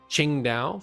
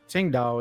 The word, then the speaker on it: Qingdao: So Qingdao, for example, the city, it's pronounced thusly. There you go. Now you all learned something today. Actually, it's Tsingdao, isn't it?